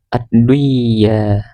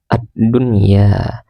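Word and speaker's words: الدُّنْيَا: Kemudian addunya addunya tidak boleh dibaca adduya, harus dibaca addunya.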